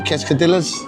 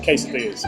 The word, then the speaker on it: quesadillas: Quescadillas. Is that my quesadillas? Quesadilla. Was it? How do you pronounce it? Quesadillas.